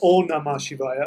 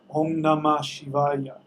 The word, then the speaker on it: Om Namah Shivaya: It's not Om Namah Shivaya. I don't know if the spell check changed it for you. It's Om Namah. The H is silent. Shivaya. It's actually not silent, but you might as well not pronounce it.